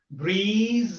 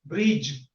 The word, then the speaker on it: breeze: So these words are wrongly pronounced by some learners, like breeze is pronounced as bridge, vacant is pronounced as vacant, whales is pronounced as whale.